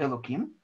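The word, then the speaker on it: אלוקים: Далее идет слово «элоким». Ну, тут пишется оно через «гей», но произносим мы его как бы через «кув», потому что это имя Всевышнего, которое не стоит лишний раз говорить.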